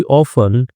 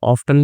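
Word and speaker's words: often: Okay, she ऑफन came to the library, तो शी ऑफन और ऑफ्टन भी पढ़ते हैं, दोनों ही सही है।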